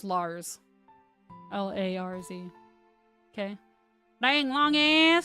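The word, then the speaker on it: Larz: So it's Lars, but it reads like Liz, but it's pronounced Lars.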